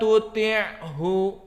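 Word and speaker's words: تطعه: Kalla la tuti'hu. Baca. Maka ain, jangan hamzah.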